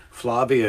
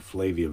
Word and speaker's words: Flavia: get the antibody test Flavia is here rhymes with Yugoslavia I guess maybe I had been saying Flavian but that's wrong it's Flavia yeah I knew it